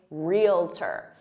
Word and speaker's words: realtor: So stick to 2 syllables because that's the correct way and say realtor.